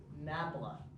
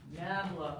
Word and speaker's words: nabla: The upside down triangle can be pronounced grad. And I guess that's standing in place of gradient. It can also be pronounced nabla. Why? I have no idea. So, an engineer or a physicist might say nabla of f of AB. I don't know why, but that's how they'd say it.